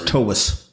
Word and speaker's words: Toews: Yeah, like T-A-V-E-S, Toews. It's actually okay. V sound. Slavic? And it is Toews. Correct. Yeah, so it's Toews.